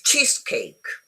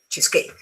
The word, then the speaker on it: cheesecake: It's cheesecake. No, cheesecake.